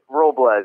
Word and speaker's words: Robles: pronounce it Robles? Robles, almost like the S is a Z.